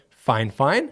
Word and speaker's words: Fifine: out to them and asked them how to pronounce it and they said fine fine so there you go this mic can record